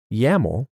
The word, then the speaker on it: YAML: pipeline in Azure pipelines yeah mall rhymes with camel is a human friendly